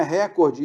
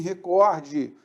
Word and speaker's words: recorde: Cuidado com a pronúncia, não é recorde, e sim recorde.